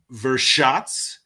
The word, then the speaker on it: Vršac: Let me pronounce this correctly. This is Vršac, Serbia.